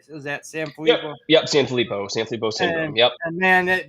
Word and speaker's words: Sanfilippo: Yep, Sanfilippo syndrome.